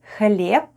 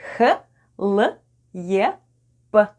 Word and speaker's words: хлеб: And Б /b/ at the end of the word is pronounced as /p/ - /hhlyep/ .